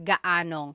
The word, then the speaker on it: gaanong: And then just a pronunciation tip, if you happen to see gaano ang something, it's usually put together and it's gaanong.